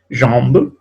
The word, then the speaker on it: jambe: Chanter, jambe, bien, jambe, acuérdense que la E final, ¿no? Las E solas no se pronuncian.